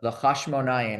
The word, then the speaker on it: Hashmonaim: And so it says that the Hashmonaim, as we pronounce it in Hebrew, now rule over Israel for generations until the year 36, when the last Hashmonaim descendant is killed.